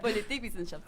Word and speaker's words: Politikwissenschaft: Politikwissenschaft se dice.